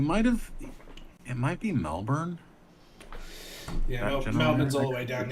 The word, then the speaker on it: Melbourne: say I love how you guys say melbour oh he's just go Melbourne but everywhere around it's not even just you guys even people from the UK say melbour melburn I that's literally how it's spelled but that's not how we say it we're just going to